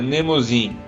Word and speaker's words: Mnemosine: Tenho quase certeza que se pronuncia Mnemosine.